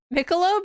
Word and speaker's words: Michelob: guess that kind of makes sense but yeah Michelob yeah like Michelob Ultra yes that's how you pronounce that I think I am going to